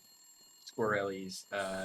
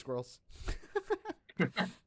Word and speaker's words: Squirrelies: Squirrelies. Yep. Is it pronounced Squirrelies? Yep. I thought it was pronounced Squirrels. Whoops.